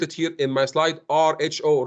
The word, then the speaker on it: rho: Now, next is there is something called rho, and I put it here in my slide, RHO, rho. That's how we pronounce it.